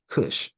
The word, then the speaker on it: Cush: K or C, Cushites, Cush, right? So that's another throw off that they try to do. But still, you're still pronouncing it the same. The K or the C, you're still saying Kush.